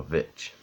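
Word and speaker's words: The VVitch: I guess because I'm jaded, but I'm doing 2016's The Witch, or the of a Vitch, as it's spelled.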